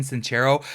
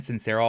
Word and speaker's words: Sincero: Jen cincero you all for the longest time I was pronouncing her name Jen since Sarah I was telling all my friends you need to check out this book by Jen sincero and it's cincero anyways if you guys